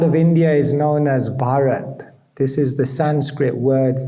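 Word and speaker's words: भारत: for India and it's made up of three syllables ba means bav which means emotion ra means rag which means Melody and t means tal which means beat so the Sanskrit name for India bhata literally means the land where emotion is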